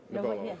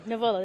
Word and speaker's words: Knovolo: I'm down here at Mobile Internet World, and I am joined by Greg Bouwens with Knovolo. The K is silent. Knovolo. Knovolo, the K is silent.